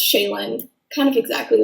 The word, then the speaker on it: Shaelin: Shay Linn um so yeah it it's just pronounced shayen kind of exactly like it looks I guess